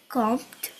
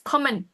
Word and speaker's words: kommen: we're comped. Almost. The ending is different. It's common.